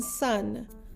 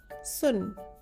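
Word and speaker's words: सुन: S as in sun, N as in nest. And when we add the add-on symbol O as in book to S, it makes the sound so. So this word is pronounced as sun.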